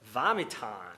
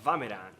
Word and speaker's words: vomit on: Quando a gente junta o vomitar em, que é o vomit on, a pronúncia deveria ser vamitan. Vamitan, mas ele pronuncia vameran.